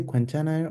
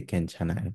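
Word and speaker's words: 괜찮아요: You can say kwenchanayo or kenchanayo. In modern Korean, most people just say kenchanayo.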